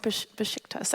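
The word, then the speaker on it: Beşiktaş: me it's a Besiktas or something like that. It's pronounced Besiktas, I hope. That's what they've said.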